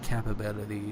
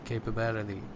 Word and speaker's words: capability: It's not capability. It's capability. Okay.